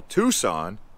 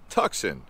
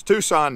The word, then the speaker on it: Tucson: pronunciation of certain words some people call tucson tuxen or gila gila okay we